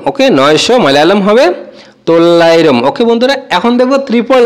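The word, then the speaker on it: തൊള്ളായിരം: বলে থাকি যেরকম 900 কে মালায়ালাম ভাষায় বলে তল্লাইরম 900 কে মালায়ালাম ভাষায় আমরা বলব তল্লাইরম ওকে 900 মায়ালাম হবে তল্লাইরম ওকে বন্ধুরা এখন দেখব ত্রিপল নাইন যেটাকে আমরা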